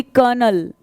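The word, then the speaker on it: colonel: जो स्पेलिंग क्या होती है, कॉलोनल, तो एल क्या होता है, साइलेंट होता है, तो इट्स एक्चुअली कर्नल, ठीक है, कर्नल, राइट।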